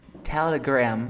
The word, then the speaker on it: Telegram: Yeah, no es como si fuera una A, mira, como Telegram, sino es una Telegram, mira. Telegram. Como una E, mira. Telegram.